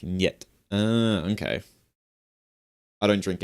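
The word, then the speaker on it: нет: The Russian word pet meaning no is pronounced with a hard e sound followed by a short e sound then a hard t sounding more like net.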